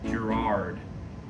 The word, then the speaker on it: Gerard: it's like Gerald Gerald how do you pronounce his name Gerard that's a name Gerard it's like a